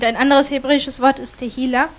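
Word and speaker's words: tehillah: Und ein anderes hebräisches Wort ist tehila. It's pronounced T-E.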